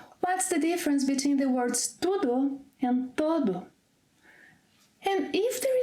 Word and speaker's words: tudo: For example, eu comi tudo.